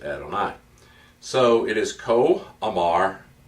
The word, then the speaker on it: Adonai: into the habit of every time we see Yahweh or yo ho ho that will pronounce it Adonai so it is co